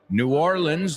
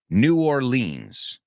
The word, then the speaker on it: New Orleans: say it like that, New Orleans. That's how I used to say it. Now I say New Orleans because I feel like that's closer to what they say.